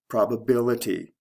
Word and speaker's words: probability: Probable, probability. Stress shift from the first to the third syllable.